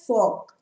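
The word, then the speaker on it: Volk: अब देखो ये मैंने भी प्रोनाउंस गलत किया, ये वॉल्गिस्ट नहीं है। जैसे हमारी फॉक्सवैगन कार आती है, लेकिन फॉक्सवैगन आपने नाम सुना है ना, वो स्टार्ट वी से होता है, लेकिन हम उसको प्रोनाउंस क्या करते हैं, फॉक।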